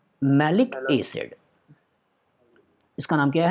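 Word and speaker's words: malic acid: इसलिए गलत प्रोनाउंसिएशन के थ्रू इन दोनों का डिफ्रेंशिएट करते हैं। इसके लिए बोलते हैं मैलाइक एसिड, मैलाइक एसिड, और इसके लिए बोलते हैं मैलिक एसिड।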